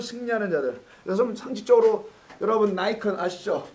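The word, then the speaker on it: Nikon: 그래서 상식적으로 여러분 니콘 아시죠? 카메라에 니콘이라고 발음하나 나이콘이라고 발음하나. 영어는 일본식으로는 니콘일 거고 영어식으로는 나이콘이라고 발음하는 게 맞거든요.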